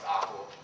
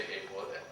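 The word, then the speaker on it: AQAL: So one of the easiest ways to define AQUA, again, A-Q-A-L, pronounced AQUA, people say AQUA, whatever, doesn't matter so much, refers to the framework, the body of theory in and of itself, the whole of it.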